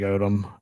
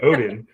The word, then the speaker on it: Oden: I'm just going with Greg Odom. Just Greg because Oden. Well, you also got his name wrong, so you should be Yeah. disqualified. It's Greg Oden, and that is a terrible first pick.